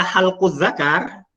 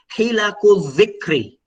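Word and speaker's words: حلق الذكر: Qala halquz zakar. Rasulullah kemudian berkata potongan potongan zakar misalkan, kan menjadi fatal sekali, kan? Ya enggak? Padahal yang seharusnya cara membacanya itu adalah hilakuz zikri, ya.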